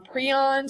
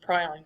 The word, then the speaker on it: prion: coat the last is um prons or prons it's pronounced both ways I very easily usually just say infectious proteins because that's actually where that name pron or prion comes from so do